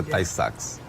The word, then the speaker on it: Tay-Sachs: A pronúncia é Tay-Sachs.